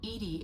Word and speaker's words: EDI: are you named edie edie is the phonetic pronunciation of edi that is an acronym for enhanced defense intelligence hey enhanced defense intelligence